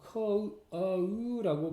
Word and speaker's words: coat: 코트는 일본식 영어 발음입니다. 이 발음은요. coat라고 발음하셔야 됩니다. coat 이렇게 발음하셔야 됩니다.